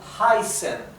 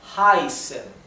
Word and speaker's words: heißen: Por ejemplo, heißen sería heißen, heißen. Es un sonido un poco más largo, el sonido vocal, debido a la SZ.